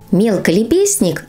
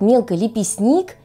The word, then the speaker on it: мелколепестник: Мелколепестник или эйригерон. Именно так произношение этих двух слов, которые по сути означают одно и то же растение из семейства астровых. И оба эти слова мы часто произносим совершенно неверно. Например, я встречала произношение этих слов как мелколепестник и эйригерон.